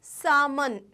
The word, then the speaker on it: salmon: but it is not known as salmon the pronunciation is salmon Sal so this is the name of a